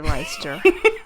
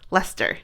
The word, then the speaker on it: Leicester: people who would say leicester that's embarrassing a few people in the comments um helped us out how to say it because we literally it's lester lester i believe that's how you say because i was like